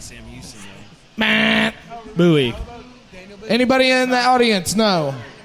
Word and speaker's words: Bowie: It's pronounced Bowie.